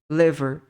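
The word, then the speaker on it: liver: Ok então por exemplo aqui a gente não fala li a gente fala le Lever Lever kidney kidney Então não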